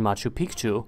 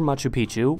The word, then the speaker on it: Machu Picchu: Pachacuti would also commission Machu Picchu, or Machu Picchu, both pronunciations are correct, in around 1450, in